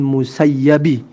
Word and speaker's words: Musayyab: Qala haddatsana al-A'masyu anil Musayyabi. Kalau yang ini dibacanya Musayyab ya. Beda dengan Sa'id bin Musayyib.